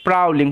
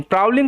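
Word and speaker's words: prowling: Wolf একটা নেকরে ওয়াজ প্রাউলিং ও ডব্লিউ এর উচ্চারণটা এখানে আও এরকম ভাবে হচ্ছে পি আর ও ডব্লিউ প্রাউ এল আই NG link প্রাউলিং প্রাউলিং কথার অর্থ হচ্ছে ঘুরে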